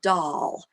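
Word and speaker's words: Dahl: so is called the doll and it's spelled like um you know willy wonka and the chocolate factory the author's last name is doll d-a-h-l that's how this is spelled so it's um they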